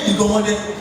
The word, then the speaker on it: Iganmode: Iganmode is the name of our founding father, and his name Iganmode is correctly pronounced as Iganmode.